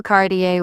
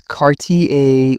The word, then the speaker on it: Cartier: People often call Cartier with stress on the last syllable. It's Cartier with a French rhythm.